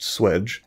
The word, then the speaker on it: swage: me it turns out the word swage sometimes pronounced swedge dates back at least